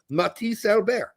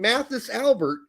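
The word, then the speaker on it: Mathis Albert: So, Matis Alber is the way that is how it is pronounced. I'm sorry if you don't know that. I am informing you that is actually how his name is pronounced. Matis Albear.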